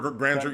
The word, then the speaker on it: grandeur: grinder grandeur grandeur yeah grander yeah it's great grandeur you got it right people pronounce it differently but yeah you got it